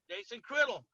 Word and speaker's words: Jason Criddle: So I'm here with Jason Criddle. I said it right. Jason Criddle, right? Yep, you got it right, Mitch. Jason Criddle.